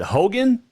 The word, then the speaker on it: Hougen: joined now via the airlink michael is it hogan did i get that right yes nice um